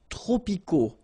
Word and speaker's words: tropicaux: Les climats tropicaux. Final X not pronounced.